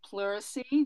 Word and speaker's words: pleurisy: It's pleurisy, just for I appreciate all that.